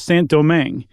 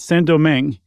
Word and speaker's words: Saint-Domingue: real gem in the French Empire, which was Saint-Domingue, which is now called Haiti, which was one of the most profitable plots of on Earth at the time. I read, Chuck, that Saint-Domingue, and I looked it up.